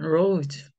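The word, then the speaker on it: rose: 가지 중요한 규칙이 있고요 그 다음에 자기는 없어져요이는 자기 소리는 없어지기 때문에이 s즈의 발음이 그냥 우 발음으로 끝나게 돼요 네 그래서 짧은 단어지만요 단어 안에 두 가지 중요한 규칙이 있는 거 잘 봐주시고요 그래서 이제 장미꽃인데요 그냥 로즈 하기보다는 로즈 이렇게 발음하게 되는 거죠 자 여기가 5가 장모음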